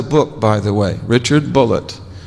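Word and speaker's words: Bulliet: He spells his name B U L L I E T and he pronounced it bullet. He corrected me. He said, "No, my name's not Bouier, it's Bullet."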